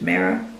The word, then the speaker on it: Mera: main character is called mera um i think that's how you pronounce my name in english in dutch i would say ma but i presume in english it's mira and she has a